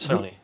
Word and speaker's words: Sony: In some of these Not going to companies, say Sony, but Sony. I'm not going to say that, but it does rhyme with phony.